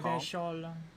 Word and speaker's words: Revachol: But someone has to stay strong for Revacol. Revechol. He pronounces Revacol with a hard K, unlike other people.